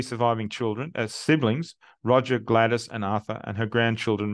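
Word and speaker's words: Gladys: on The Headstone um though in the family it was always pronounced gladus is recorded as the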